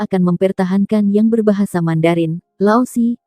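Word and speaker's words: 老师: Lao Si, diucapkan sebagai Si.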